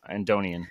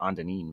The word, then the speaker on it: Andonian: Andonian. Andonian. Oh, see, I was going to go Andonin, but yeah.